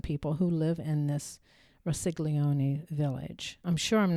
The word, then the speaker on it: Rossiglione: And right now, there are 2,000 people who live in this Rossiglione village. I'm sure I'm not pronouncing that right. It's Rossiglione.